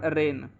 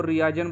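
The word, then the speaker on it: reign: जी silent होता है इसी प्रकार रेन रेन की करेक्ट स्पेलिंग होती है आर आई जी एन लेकिन बच्चे इसको रीजन बोलते हैं यह रिएजेंट नहीं बच्चों ये रेन होता है क्योंकि इसमें जो जी है वो एन से पहले आया है इसलिए यहां पे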